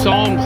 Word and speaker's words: Psalms: Psalms is songs, S-O-N-G-S. But, you know, it's spelled P-S-A-L-M-S.